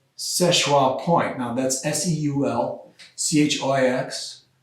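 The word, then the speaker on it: Seul Choix: to this place called szechua point now that's s-e-u-l c-h-i-x that's derived from french language which if you're pronouncing it in french my french isn't very good but it's uh schwa but all the locals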